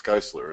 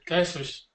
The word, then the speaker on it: Geisler: I think I just pronounced your last name wrong again, didn't I? It's Geisler, isn't it? Yeah, that's it. Geisler's. I went and said Geisler again.